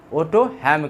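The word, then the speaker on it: Otto Hahn: ओटो हैम किया था। एल का उच्चारण नहीं होता, HALM है स्पेलिंग, OTTO, उसके बाद HALM है, ठीक है, लेकिन हैम पर आ जाता, ओटो हैम, ठीक।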